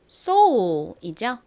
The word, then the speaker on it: soul: soul이죠. 가장 앞에 S가 오고요. 그 다음에 O 소리 나는 O, U, L이 옵니다.